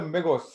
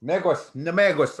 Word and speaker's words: Nemegos: What's the megos? Megos. Nemegos. I gotta respell that. Nemegos. In front of the M, you're supposed to put that N.